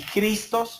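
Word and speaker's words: Χριστός: una palabra en español y cristos o sea es la pronunciación correcta del griego cristo significa el mesías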